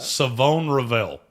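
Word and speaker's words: Shavon Revel: love it's shobon revel saone revel I learned that this week they the H is silent I like that savone Revel out of East Carolina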